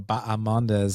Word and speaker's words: Bahamondes: Well, firstly, I give you a lot of credit for pronouncing Ignacio Bahamondes' name correctly, because I know everyone's going with the Baja. The H is silent, so respect, my friend, for putting in that work.